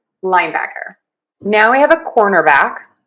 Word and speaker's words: cornerback: Cornerback cornerback cornerback cornerback cornerback.